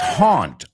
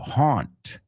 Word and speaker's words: haunt: On. on. It's a weird sound because it doesn't exist in Spanish. You don't have that vowel sound.